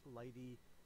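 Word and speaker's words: lighttpd: So that's not a great choice that I necessarily made using Lighty there. By the way, Light HTTPD. This sucker here is pronounced Lighty, which is stupid.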